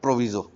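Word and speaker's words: proviso: प्रोविजो। कुछ लोग इसको सही से प्रोनाउंस प्रोवाइज़ो भी प्रोनाउंस करते हैं।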